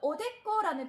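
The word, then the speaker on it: おでこ: 그 다음에 액이라고 발음을 할 때는 깍구하고 발음을 하시면 됩니다. 그리고 우리가 이마를 나타낼 때는 히타이라는 표현도 쓰지만 그거보다 또 오데꼬라는 표현을 많이 씁니다.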